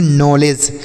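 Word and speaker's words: knowledge: है उसी तरीके से अगर डी और जे एक साथ रहे डी और जी तो यह डी साइलेंट होता है जैसे यहां पर है ना के एन ओ डब्लू एल ई डी जी ई तो इसे हम पढ़ेंगे नॉलेज इसे नॉलेज इस तरीके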